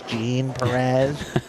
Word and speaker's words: Jean Perez: Mike, just so you know, it's pronounced like blue jeans. It's Gene Perez. Like, no, it's not. All right, I might have to jump on that train. I like the Jean Perez personally.